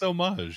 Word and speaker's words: homage: It's homage. It's homage? Okay, I always pronounce it homage. The H is silent.